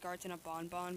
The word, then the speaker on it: Garten of Banban: I actually found out it's pronounced Gartina Bonbon, but I'm gonna keep pronouncing it Ban Ban.